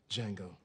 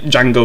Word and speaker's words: Django: what's your name Django can you spell it d-j-a-n-g-o the D is silent I know oh oh